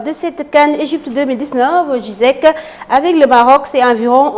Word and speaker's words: Ziyech: Avec 23 matchs, Ziyech a marqué 12 buts présidents. Voilà, Ziyech. Hein, c'est la bonne prononciation, je crois, oui. Mais j'ai entendu les consultants français, entre autres, prononcer Ziyech.